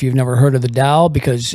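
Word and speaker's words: Tao: never heard of the Dao because it's called Daoism just like Catholicism or uh any other religion um some people are dsts and um da is is spelled with a t by the way if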